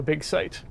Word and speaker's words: Big Sight: showing off the tokyo big site which is spelled s-i-g-h-t you know like a site but it's funny because